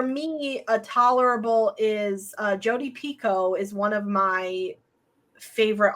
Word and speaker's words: Picoult: That's how you say her name, Picoult.